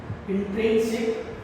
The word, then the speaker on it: intrinsic: में थोड़ा pronounce problem होगा, लेकिन इंट्रिंसिक INTRINSIC इंट्रिंसिक प्रोटीन।